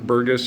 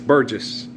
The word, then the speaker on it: Burgess: Burgess High School yeah James was saying it wrong b bergus or whatever his quarterback it's Burgess the name yeah that's how you say it he he mispronounced